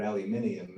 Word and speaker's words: aluminium: of times just as I like pronouncing the word aluminium as as Australians do but um uh but